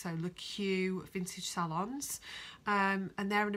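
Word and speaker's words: Le Keux: It's L-E and then a separate word, K-E-U-X. So LeQ Vintage Salons.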